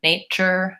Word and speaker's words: nature: Structure, nature, future, all of those have this suffix T-U-R-E, and it sounds like chur.